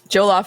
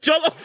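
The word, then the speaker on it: jollof: Jolaf rice maybe. Did you say jolaf rice? Jolof rice.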